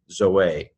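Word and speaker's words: ζωή: it for this but it is conventional in teaching New Testament Greek to pronounce this hey Zoe Zoe life Zeta Omega Aida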